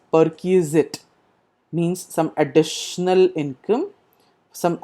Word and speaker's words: perquisite: s i t e it is pronounced as per key zit means some additional income